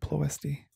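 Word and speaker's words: Ploiești: able to hit policy plosty i always say it wrong i always want to say like nancy pelosi but like no ploisty so that'll uh that'll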